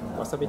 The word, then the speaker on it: wasabi: Yeah, wasabi. All right. Wasabi. Hi. You pronounce it shorter.